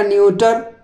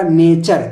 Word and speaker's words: nature: ठीक है, अब देखिए NATURE, अब इसको कोई पढ़ेगा न्यूटर, है ना, न्यूटर, लेकिन यहाँ पे क्या होगा, ये होगा नेचर। क्या होगा, नेचर।